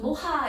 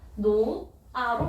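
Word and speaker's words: 놓아: 근데 우리 발음 혹시 우리 친구들 중에 빨리 좀 손을 좀 노하 이렇게 발음하는 친구 있을까요? 노하 노하? 아니죠. 노아로 발음합니다. 즉 표기에는 히읗이 있지만 발음할 때는 히읗이 어떻게 돼요? 히읗이 쇼로롱 하고 날아가는 거예요.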